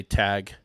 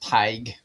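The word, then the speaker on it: Tadhg: Vincent said Todd again, but no, not correct. This is actually pronounced Tig. Oh, Tig. Tig. Tig. Yep. Mm-hmm. Yep. That makes sense with the D and the H in there.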